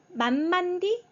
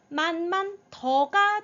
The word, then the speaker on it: 慢慢地: 그다음에 땅지 아가 있습니다 땅지 아의 발음은네 디가 아니에요더라고 읽어 줘야 돼요네 성조 없이 가볍게 뜨 뜨라고 읽어 주는 거 죠네 만만디 만만 만드 만만 잠시